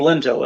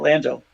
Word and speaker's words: Lento: my family, which is named Lento, L-E-N-T-O, not Lando. That's the way they pronounce it when they came over on the boats.